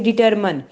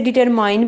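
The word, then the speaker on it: determine: डिटरमन, ठीक है, डिटरमन, इसे डिटरमाइन भी कहते हैं, लेकिन ज़्यादातर जो बेस्ट है उसे डिटरमन पढ़ना है, ठीक है।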